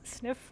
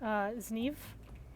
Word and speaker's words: Zniw: So I was pronouncing it as sniff last time because I thought that's how it was pronounced, but then I was informed that it's actually more like Zniw.